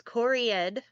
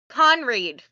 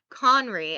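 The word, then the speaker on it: Conried: Uh, Hans Cored as Captain Hook. Sorry if I butchered that. Um, what a great job by Hans. Damn. Uh, yeah. Conreed.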